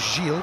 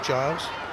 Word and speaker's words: Gilles: Checked on the pronunciation of Vanessa Giles with the Canadian side. I thought it was Gilles, having described her as that when I've been